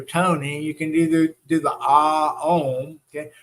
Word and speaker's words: om: You can do the ah om. Okay, remember om is really three syllables. It's ah om, and then we close our lips, so it's a Okay, so that's why it's an internal vibration with that.